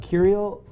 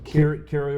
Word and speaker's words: Curio: Now this is also a and I want to make sure I say it right a curial how do I say curio resort by curial resort by Hilton.